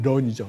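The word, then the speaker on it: 润: 이거 하고는 아무 상관이 없고요이 룬이라는 말이 중국어의 발음 표기는 run입니다 그래서 영어의 런이죠 런 도망치는 걸 뜻하는 겁니다 그래서 앞에 차이나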